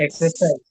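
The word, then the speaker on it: exercise: আচ্ছা, এখানে আপনি দেখেন এক্সারসাইজও বলতে পারবেন, আবার এক্সারসাইজও বলতে পারবেন, মানে আরটা উচ্চারণে আনতে পারবেন, এটা আমেরিকান উচ্চারণ। আর আরটা যদি উচ্চারণে না আনেন তাহলে হচ্ছে এটা ব্রিটিশ উচ্চারণ।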